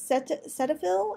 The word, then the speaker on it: Cetaphil: sunscreens in this video as it tried the Cetaphil is how you say it sunscreens I have